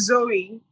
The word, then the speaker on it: Zoe: your name i'm like did i get the pronunciation right today it's zoe okay cheers zoe okay